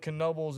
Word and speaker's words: Knoebels: Pronounce the K like Knoebels Amusement Park.